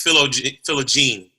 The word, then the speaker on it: Philogene: i pronounce it correctly you were close it's philo gene man see this is